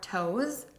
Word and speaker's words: toes: the same way yes even though the last letter is an S and is pronounced with a Z sound Saito's start by saying